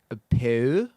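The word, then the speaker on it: peau: Peu. Peu. Spell it.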